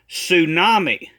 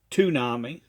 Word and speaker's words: tsunami: Just like it's not a tsunami, it's a tsunami. And again, he's given many prophecies about a tsunami, or should we pronounce it correctly as tsunami.